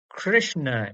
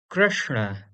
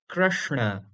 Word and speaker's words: Krishna: Similarly, one of the most famous names out of India, the word Krishna is not Krishna in reality, but rather Krishna. Krishna.